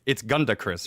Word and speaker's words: GandaKris: Uh, it's GandaKris, right? Here's the thing. Yes. I've never actually heard the word pronounced. Uh, and so I kind of had to guess that. No, you nailed it.